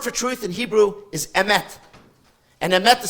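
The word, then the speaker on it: אמת: The word for truth in Hebrew is emet. And emet is spelled aleph, mem, taf.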